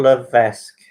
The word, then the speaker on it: Levesque: Question 4 is Paul Levesque. I've probably butchered that name a little bit.